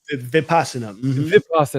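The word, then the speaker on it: Vipassana: So that's where I went for the rapasana. Is that how you pronounce it? Vipasa vipasa right is the the silent tree.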